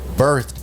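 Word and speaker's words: berthed: phonetically the same as, the word birthed. B-I-R-T-H-E-D. The other word I pronounced was B-E-R-T-H-E-D for those who are listening. These two words are spelled differently, but they sound very similar.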